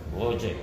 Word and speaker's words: Voge: Sabi, ang talagang ano nito, ang pronunciation, Boje. Boje. Parang hindi siya Chinese ano ha?